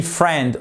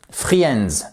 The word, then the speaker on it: friend: dans la rue oktion prononcez pas le i on dit friend on ne dit surtout pas friends ça ne marche pas chers amis to go